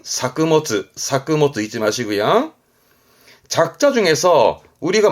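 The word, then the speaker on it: 作物: 농작물의 작물만 쓴 발음은 사크모츠. 의미는 같은데 이때 발음은 바뀐다는 거 중요합니다. 작물만 쓰면 발음은 사크모츠 잊지 마시고요.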